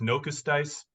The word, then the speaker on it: Nokosu Dice: uh and that is nokosu Dice or I think it's pronounced nocus dice um means leftover D is what it means in in Japanese um this is one